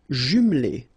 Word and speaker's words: jumelée: Une maison individuelle jumelée. Final E here, not pronounced. Une maison individuelle jumelée. Des appartements en copropriété.